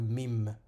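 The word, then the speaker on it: ميم: on vient on vient rajouter un trait le mime se prononce comme le m en français on dirait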